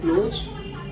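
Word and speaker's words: close: एओ ठीक है लेकिन जब हम प्रोनाउंस करते है एक को बोलते है क्लोज और दूसरे को बोलते है क्लोज स का साउंड आता है और एक में आता है ज का साउंड ये क्या है होमोग्राफ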